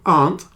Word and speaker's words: aunt: illustration by the computer so Aunt has just one syllable aunt friend also has one